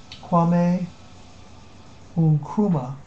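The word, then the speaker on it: Kwame Nkrumah: uh no norum uh let me pronounce his last name correctly here just watch that one um that is going to be pronounced quame unuma and um and he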